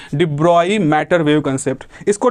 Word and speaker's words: de Broglie: तो डी ब्रॉय इसका correct pronunciation है।